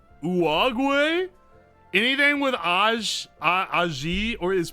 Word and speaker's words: Uruguay: The U in Spanish is pronounced like the U in pudding. Oh, so it's... Uruguay.